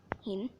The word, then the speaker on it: หิน: คด หิน นั่น แหละ ออก เสียง ให้ ถูก นะ หิน ไม่ ใช่ ออ เหบ สี ต้อง ขอ โทษ ที่